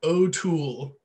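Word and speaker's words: O2L: This album's called Eat a Pickle by the group O'Toole, and you spell that the letter O, the number 2, the letter L, O'Toole.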